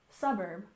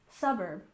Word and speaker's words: suburb: and finally we have suburb with stress on the first syllable suburb suburb again this is shortened